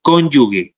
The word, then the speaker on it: cónyuge: en cuanto al cónyuge es cónyuge así como se es escribe es como se pronuncia cónyuge Okay gracias y también